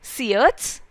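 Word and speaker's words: Syrtes: दो जगह के नाम है सियट्स एंड सिसिली, इस वर्ड का प्रोनाउंसिएशन इज सियट्स।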